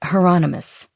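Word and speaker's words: Hieronymus: And it's heronomous. Rhymes with anonymous.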